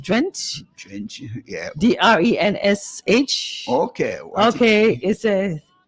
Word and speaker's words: Drensh: I'm not sure if that's how his name is pronounced. Drench. Drench, yeah.